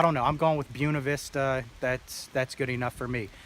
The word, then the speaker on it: Buena Vista: She was very confident and said it's pronounced Buena Vista with like an emphasis on the U.